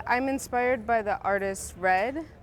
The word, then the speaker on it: Rhed: inspired by the artist red spelled rhed like for head but pronounced red and i've been doing